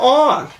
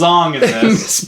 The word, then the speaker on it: Aang: name is on yeah they call him on his name's Ong how do you mispronounce